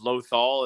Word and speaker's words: Lothal: I call it because it's Lothal is how it's pronounced, so I always called it a Lothcat.